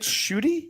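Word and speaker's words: Ncuti: so do you say his name is it shooty is that really how you say it yeah so yeah so shoy gatwa gatwa yeah I was like well just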